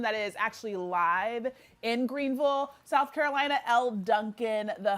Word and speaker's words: Greenville: Just so you guys know how to say it correctly. It is Greenville. Greenville. That's what I've been told. That's when I lived in South Carolina. That's what they told me.